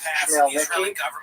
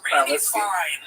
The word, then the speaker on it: Khmelnytsky: this man, Bogdan Khmelnytsky, sometimes horribly mispronounced Chmielnicki because that's the Polish spelling with an American pronunciation, but the actual pronunciation is Chmielnicki, led an uprising of Ukrainian peasants against their Polish overlords.